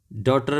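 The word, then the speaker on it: daughter: डॉटर में यहाँ पे UGH, डॉ GH साइलेंट है।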